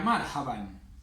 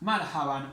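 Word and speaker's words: مرحبا: Otra palabra que vimos también era marhaban. Marhaban. Este alif no se pronuncia. Marhaban. También se puede decir marhaba, pero eso es una deformación del idioma.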